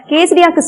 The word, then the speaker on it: quesadilla: கேசரியாக்கு ஸ்பெல்லிங்க்கும் அந்த இருக்கிற ப்ரொனவுன்சியேஷனுக்கும் சம்பந்தமே இல்லை. QUESIDILLA. எல் ப்ரொனவுன்சியேஷன்ல வரவே வராது. எல் is absolutely silent.